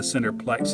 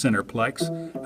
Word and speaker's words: Centreplex: A decade ago, when I called the Centreplex and asked someone who answered the phone there how they pronounce Centreplex, I was told they put the tra in there.